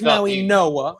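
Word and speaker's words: Mauigoa: Well, it's Francis Maui Noah. It's Francis Maui Noah Noah. Okay. But I don't know why it's spelled the way it is. I have no idea, but it's apparently I've heard it's Maui Noah.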